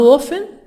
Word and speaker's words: often: of reputation how often how often tea silent T sigh how often how many